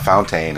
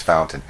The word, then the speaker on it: Fountain: She said, don't juice it up. It's not Fountain, it's Fountain. We talked about the people of Brookside.